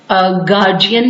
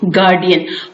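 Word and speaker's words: guardian: डी डाल देते हैं, बट इट्स जो है वो pronounce as गार्जियन नॉट गार्डियन। और जो तीसरा लफ्ज मैं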